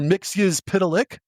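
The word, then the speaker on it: Mxyzptlk: Mixius Pitilik, which is how that's pronounced.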